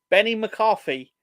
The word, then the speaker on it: Benny McCarthy: Benny McCarthy, hence rhymes with Jenny McCarthy.